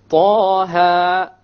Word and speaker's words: Taha: Okay, both of them are two harakas long, so we pronounce it Taha, Taha. If we were to make it longer, it's a mistake.